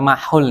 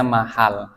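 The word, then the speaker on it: محل: benda najisnya ya thhurol Mahal itu bukan mahul ya bacanya mahal harakatnya fathah mahal maka telah Suci tempatnya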